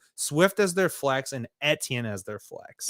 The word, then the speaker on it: Etienne: as their flex, and Etienne as their flex. It's actually, I believe it's Aishan. That's how he pronounces it.